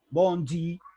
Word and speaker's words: Bondi: Y entonces los cariocas empezaron a llamar Bondi, ellos a toda palabra extranjera que termina en consonante le agregan una E pronunciada como I, ¿no? Bondi, y de ahí Bondi le dio nombre al tranvía, al medio de transporte.